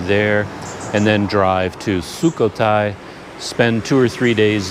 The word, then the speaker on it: Sukhothai: and go to the nearby historical site of sukhothai i should have checked how to pronounce that before i started this video but there's a historical site near here i believe it's called sukhothai and i haven't done all of my reading